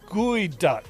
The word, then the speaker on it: geoduck: have you ever tried geoduck Seafood Wicked weird tasting from the pnw uh pronounced guy duck guy duck I I have not